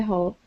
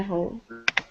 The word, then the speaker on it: hall: um and let's uh let's practice hall one more time this is uh instead of hole try that oh okay yeah one more time with an ah sound okay very nice all